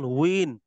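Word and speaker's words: تنوين: এই যে এখানে যে আপনারা দেখতে পাচ্ছেন কিনা তানবিন এখানে যে তানবিন লেখা আছে না মূলত কিন্তু মূলত এইটা আরবিতে উচ্চারণ হয় তান তানউইন তানউইন কিন্তু ওয়াওজের উই এই উইটা তো বাংলায় বানান করা যায় না।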